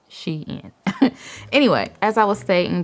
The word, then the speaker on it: Shein: is my Xi'an haul I know a lot of y'all like to correct me on how I'm saying she in but I looked it up and that's how you say it she in anyway as I was